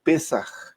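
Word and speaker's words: פסח: es en hebreo, eh que se pronuncia o se escribe Pesaj.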